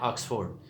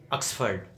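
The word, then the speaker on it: Oxford: بولے جانے والا، آکسفورڈ، ہم کہتے ہیں آکسفورڈ، تو آکسفورڈ نہیں ہے، آکسفرڈ۔ اس میں بھی 2 مرتبہ او آیا ہے اور دونوں جگہ پہ زبر کی ساؤنڈ بولی جائے گی، آکسفرڈ کہا جائے گا۔ تو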